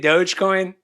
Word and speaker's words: Dogecoin: Or if you really want to spend $450, invest in like crypto, like Dogecoin. Had to plug that there. Yeah, is that how you say it? Dogecoin.